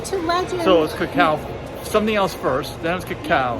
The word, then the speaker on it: cacao: preference for the latter how to pronounce cacao cacao pronunciation just like in cut or cowardly cocoa pronunciation just like in